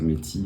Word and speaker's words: Métis: Les Inuits, la nation Métis ou Métis là, mais on préférera prononcer Métis en français, et les Premières Nations.